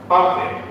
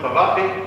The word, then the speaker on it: Pavate: cultural center and as Dr. Pate and we say we pronounce it pavate here.